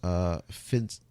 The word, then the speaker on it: Psyonix: Yeah, the game initially released in 2015, July, and the publisher is Psyonix. There we go. That's how you pronounce that word.